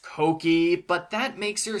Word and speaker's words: Cokie: what cookie thinks continuity and yes I know cookies name is supposed to be pronounced Cokie but that makes you sound like a drug